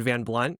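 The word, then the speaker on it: Van Blundht: great comment about the H is silent in Van Blunt.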